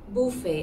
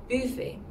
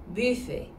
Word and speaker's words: Buffet: first word is not buffet actually it has a u sound in it more than a ooh so it's actually buffet buffet the second word naturally